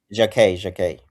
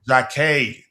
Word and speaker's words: Jacquet: Is that how you pronounce it, Dante? Jacquet. Jacquet.